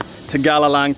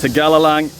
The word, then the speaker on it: Tegalalang: So I think I butchered the name of this place before, but it's called Tegalalang Terrace Rice Fields. Tegalalang Terrace Rice Fields.